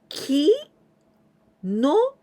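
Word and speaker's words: きのう: Well, this u, here we pronounce longer sound of this second one. When we still hear ki no, no, and this u letter, this is for the longer sound.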